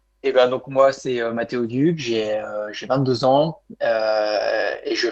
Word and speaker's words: Matteo Duc: Tu vas, avant de te présenter, Mathéo Duc, j'espère que je prononce bien ton prénom.